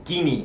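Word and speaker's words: Chini: Francesco Kini, el apellido ni siquiera llevaba acá porque ya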